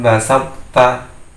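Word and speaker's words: بسطت: Jadi membacanya di sini la im basatta.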